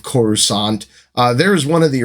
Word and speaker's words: Coruscant: first is Coruscant uh which most people pronounced quarter scant at this time uh I was really happy with George Lucas's choice for the pronunciation of Coruscant uh there's one of